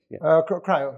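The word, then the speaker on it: CRIU: Was the pronunciation Creo? Cryo, yes.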